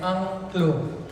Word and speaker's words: Angklung: The instrument named Angklung. A-N-G-K-L-U-N-G. Angklung. Too easy to pronounce is like put 3 A in the front and 3 O in the middle.